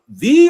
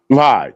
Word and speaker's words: Vie: And do you pronounce it V or Vi? Vi. That's right. Yeah. Yeah, because it's VIE. Yeah, Vi. It's kind of like die, so Vi.